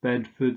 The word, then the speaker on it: Bedford: afford and german food but this is just pronounced as food yeah so oxford bedford stratford then there is born